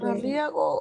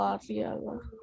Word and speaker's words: Arriaga: ¿Arriago o Arriaga?